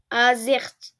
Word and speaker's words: Azerty: Ah, comment je le prononce du coup? Azerty.